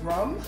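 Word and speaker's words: rhum: to them it's also still pronounced as rum and these were actually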